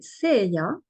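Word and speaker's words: Seheiah: a peu de temps qui s'appelle CIA et cela s'écrit s e h I a h j'ai plus tout de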